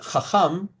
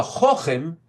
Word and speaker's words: chacham: When you use it, you pronounce it differently. You don't pronounce it chacham, which would be the proper pronunciation. If you say he's a chochim, then you're saying he's like a wise guy, or he's actually a foolish.